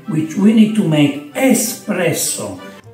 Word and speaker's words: espresso: we need to make espresso espresso Bravo no expresso Dex espresso good pronunciation Bravo from scratch so